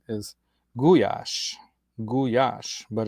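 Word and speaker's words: gulyás: Guash, but it's spelled with a l y, which in Hungarian makes a soft J sound.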